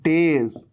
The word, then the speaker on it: days: ये है days, days, एस का साउंड, ज का साउंड।